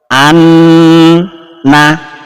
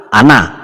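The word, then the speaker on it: أَنَّ: Tahan 2 ketukan. Anna, anna, jangan langsung ana, salah. Atau sedikit saja anna, salah. Harus betul-betul dipastikan ini 2 ketukan.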